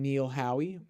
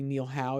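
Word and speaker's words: Neil Howe: the author and historian Neil Hoy or it could just be Neil how if the E is silent sorry sir for mispronouncing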